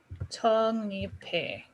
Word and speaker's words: 적립해: Because you would have the giok plus the deal next to each other, and there would be a nasalization going on where the giok turns